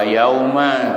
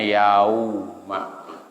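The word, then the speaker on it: يَوْمَ: Ada wawu sukun patah, maka wawunya disebut huruf lain, lembut, lain. Bacanya yauma. Jangan yauma, bukan yauma tapi yauma. Cara melafalkannya begitu. Jangan dipotong langsung yau, bukan yau tapi yauma. Ada pergantian antara huruf ya melafalkan dengan waw.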